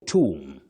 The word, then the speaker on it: tomb: You say tomb. The tomb. Not the tomb. And not the tomb. That B after M is silent.